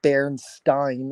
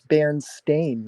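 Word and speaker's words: Berenstain: the song is the way that I've always pronounced it myself it is never supposed to be Berenstein it's Baron stain I've always heard it that way I don't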